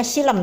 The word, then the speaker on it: xilem: Hai laporan praktikum jaringan xilem itu bacanya silam ya Hai xilem termasuk dari